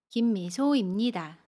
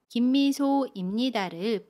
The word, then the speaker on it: 김미소입니다: 두 번째로는 김미소입니다를 붙여서 발음하는 경우가 있어요. 이 경우에는 김미소입니다에서 김미소의 모음 오와 입니다의 임 두 소리를 붙여서 발음해요. 그러면 임의 모음 이를 생략하고 받침 미음을 소 밑으로 옮겨서 받침처럼 발음합니다. 그래서 김미소입니다 라고 발음해요. 김미소입니다. 두 가지 모두 맞는 발음이에요.